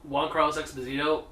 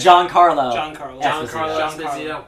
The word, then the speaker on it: Giancarlo Esposito: Even though Juan Carlos Esposito, did I say it right? Giancarlo Esposito. Wow. It's spelled Giancarlo.